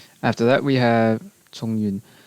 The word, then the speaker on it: Chongyun: After that, we have Chongyun. The Cantonese pronunciation is Chongwan. Chongwan.